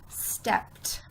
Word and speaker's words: stepped: I hear it now look the word does not end in a T but it makes it sound at the end stepped I don't know why